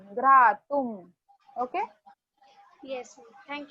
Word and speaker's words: घ्रातुं: जहां पर भी अनुस्वार दिख रहा है उसको म प्रोनाउंस करना है। श्रोतुम, सुहास्यम, घ्रातुम।